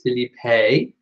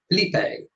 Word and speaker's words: Felipe: Felipe. Philippe would be French. So there you go. Philippe is French, Philip is English, and Felipe is Spanish.